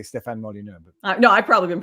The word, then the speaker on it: Molyneux: do people pronounce it mollin yo mullen you no you're pronouncing it with like a french accent or something i took for granted